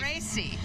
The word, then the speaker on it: Imerese: Imerese.